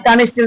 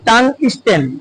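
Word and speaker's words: tungsten: এটা হলো টাং স্ট্যান্ড অনেক সময় টাং স্টিল টাং স্টিল বলি কিন্তু এটার উচ্চারণ হবে টাং স্ট্যান্ড টাং স্ট্যান্ড তারপরে দেখেন আর এটা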